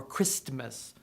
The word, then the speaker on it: Christmas: we don't pronounce them no one says soft ten or moist or Christmas why not we say